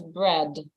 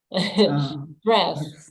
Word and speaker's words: breath: And I think I heard you, like you said breath. and you pronounce it as bread, like D, as if it's a bread that you eat, you know. Breath, breath.